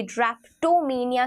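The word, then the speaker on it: drapetomania: इसे ड्रैप्टोमेनिया की तरह प्रोनाउंस किया जाता है।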